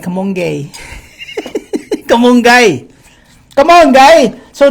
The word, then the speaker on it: kamonggay: Okay, go ahead, spell it. Kamonggay.